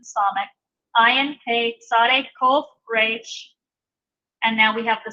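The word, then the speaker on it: ריש: This is actually going to have more of a guttural sound to it, a little bit more of an H sound on the front. So Resh, Resh.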